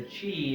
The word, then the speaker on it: qi: and right in the chi and Qigong with a chi and Tai Chi is spelled Qi and it's pronounced c-h-i-chi and that's your vital